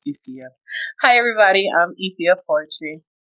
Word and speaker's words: Efia: It's Efia.